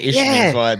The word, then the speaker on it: Isthmian: Isthmian. That's Isthmian. Just forget there's like a T and H, and they just say Isthmian. They just like throw a few extra letters in just to piss you off.